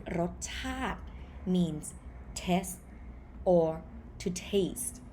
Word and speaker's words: รสชาติ: It comes from the word รสชาติ รสชาติ ชาติ not ชาติ This one สระอิ sound obsolete, so you pronounce it รสชาติ means taste or to taste.